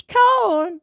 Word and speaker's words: Khorne: It's Khorne.